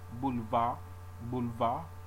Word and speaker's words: boulevard: Au, boulevard, you drop the consonant.